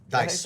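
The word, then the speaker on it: Deiss: Baker went to the TNC, Trade and Conversion Conference for a company called Digital Marketing, Ryan Dees. Is it Dees? Dice. Dice. Yep, Dice.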